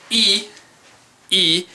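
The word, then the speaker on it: い: actually an i e it's pronounced e written as an i and it is one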